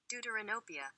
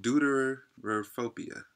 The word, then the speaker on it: deuteranopia: So it's called deuterophobia.